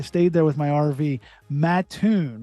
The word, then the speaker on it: Mattoon: Mattoon, right? Not Mattoon, Yes. Mattoon.